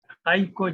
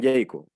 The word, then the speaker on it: Jaiko: Siempre me dijeron Jayco, la A la pronuncia por la E, Jayco siempre, y yo